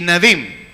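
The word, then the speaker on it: Nevi'im: Torah, Ketuvim y Nevim. Gracias, sí. Torah, Ketuvim y Nevim. ¿Qué quiere decir? La Torah, el Pentateuco, los 5 libros de Moisés. Y ese es Torah. Y Ketuvim, los profetas. Y Nevim, no, al revés.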